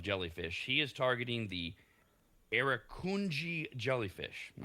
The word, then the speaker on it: Irukandji: He is targeting the Irukandji jellyfish. I'm not sure if I have that pronunciation right. That's fun to say. Irukandji. Oh, it's Irukandji. I did hear it pronounced.